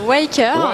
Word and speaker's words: Weaker: Alors, ça se prononce Waker. Weaker.